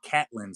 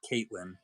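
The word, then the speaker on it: Catelyn: yep yeah I think it's actually Catlin Stark is how they pronounce it said of Caitlyn but yeah she hasn't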